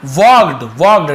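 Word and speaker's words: walked: फिर क्या हुआ देखिए, द पाइपर वॉक्ड, ठीक है, एल साइलेंट होता है, वॉल्गड ऐसे नहीं पढ़ेंगे, वॉक्ड, पाइपर वॉक्ड, फिर उसने क्या किया,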